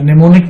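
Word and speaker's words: mnemonic: निमोनिक में मैं आपको बता दूं कि M साइलेंट होता है।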